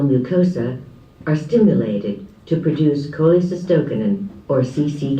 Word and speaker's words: cholecystokinin: intestinal face of digestion you can say Kyle assists cholecystokinin that's fine I don't know one